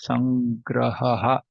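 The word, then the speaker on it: संग्रहः: So this is called Visarga. Aha. So we pronounce this as Sangraha.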